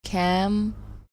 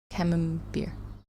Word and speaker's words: CamemBERT: In English, I'd say it like camembert. Camembert. I think. Sort of vaguely like the French pronunciation, but without the r part at the end, yeah.